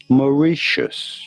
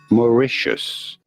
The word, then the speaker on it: Mauritius: Mauritius. You do want to stress on the second syllable, the re syllable. Mauritius.